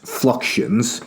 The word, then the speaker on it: fluxions: fluxions so f-l-u-x-i-o-n-s fluxions fluxions yeah fluxions I believe is a better way to pronounce that certainly as an American um so and he